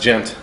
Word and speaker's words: Ghent: Oh, would you Pronounced gent.